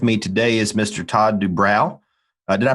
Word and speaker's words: Doobrow: Todd Doobrow. Did I pronounce that correct? Yes, sir. Doobrow, good.